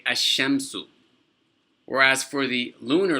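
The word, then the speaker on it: الشمس: When there's an alif and a lam attached to a sun letter, you don't pronounce the lam.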